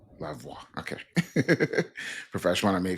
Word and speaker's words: Lavoie: Lavoie. Lavoie.